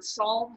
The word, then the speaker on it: psalm: milestone it's based on psalm 103 and remember from some of our other stories that psalm doesn't isn't spelled like it's sound it's spelled p-s-a-l-m if you're looking in